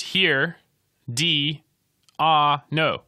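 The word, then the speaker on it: Herediano: B sports club here at Ianno so it's pronounced here D ah no here diono is alright did they get there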